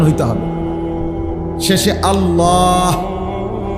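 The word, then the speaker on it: الله: শেষে আল্লাহ। শেষে একটা গোল হা আছে। ছোট হা।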